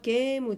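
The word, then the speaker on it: ゲーム: 슈미와 게이무 데스. 카타카나입니다. 게임을 게무 이렇게 표현합니다. 장음입니다.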